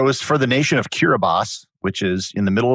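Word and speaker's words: Kiribati: Most people pronounce it Kiraabati, but it's actually pronounced Kiraabas. There's no S in it, but it's pronounced like an S.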